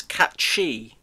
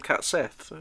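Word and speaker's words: Cait Sith: yeah um cat Sith apparently the the proper pronunciation of cat Sith is cat shei but really I just can't get my head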